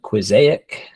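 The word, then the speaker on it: Quizaic: up with this app called quic and pronounced like Mosaic and what I'd like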